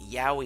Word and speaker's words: yaoi: friends you corrected me it's yaoi Yahweh is how that's pronounced I believe yaoi Kurashiki made